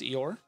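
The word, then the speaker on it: Eohr: um her name is eeyore i did not name her but it's it's e-o-h-r but yes it is pronounced like a certain um donkey if you were a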